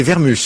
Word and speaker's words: Vermus: C'est Vermus, hein. Il n'y a pas de T à prononcer.